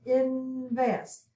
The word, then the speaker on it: invest: number 15 invest invest so we're going to put our v here we have two syllables invest we also have v c c b and we have short vowel sound short vowel sound invest and we're going to accent the last syllable on this one and